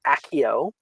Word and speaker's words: Accio: Both of those are weird to pronounce, so it's Accio.